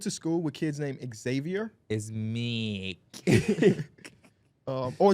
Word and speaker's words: Xavier: call him Xavier it's Xavier Xavier you don't pronounce the ex but the kid and